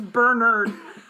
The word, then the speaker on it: Bernard: And by the way, it's not Bernard. I listened to them pronounce that name several times. It's Bernard.